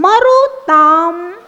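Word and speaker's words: मरुतां: न जातो जातो मरुताम मरुताम मां का उच्चारण ध्यान रखना मरुताम मरुताम मरुताम मरुताम चलिता चलिता चला नाम बहुत सारे चलिता चलाना बोल के छोड़ देते हैं।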